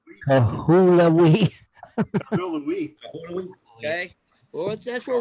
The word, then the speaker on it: Kahului: Now, the next one we're going to go to is, can you pronounce that one? Hold it still for a minute. Kahului. Kahului.